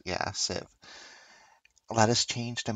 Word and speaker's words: Civ: It has been a long time since I've made a Civ 6 video. That's how it's pronounced. Yeah, Civ.